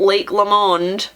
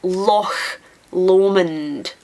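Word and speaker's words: Loch Lomond: lake L Lake leond there's only one Lake in Scotland and it's not Lake Lon Lake of Min Lake of menth it's Lo lond lalin lagav that recently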